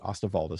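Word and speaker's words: Osterwalder: model generation by alex astavalda that's o-s-t-e-r-w-a-l-d-e-r um i guess it's spelled oster walder but he said he pronounced it ostavalda so alex ostavalda from from switzerland he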